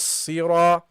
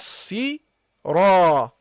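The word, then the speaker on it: صِرَاطَ: So you go Ihdinas sira. Ihdinas sira. Ihdinas sira. Okay? So, and the Ra here should be pronounced heavily, guys.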